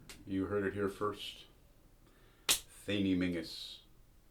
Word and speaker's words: Theniel Menzies: Theniel Menzies. It's pronounced as it would be in Gaelic, a Highland name.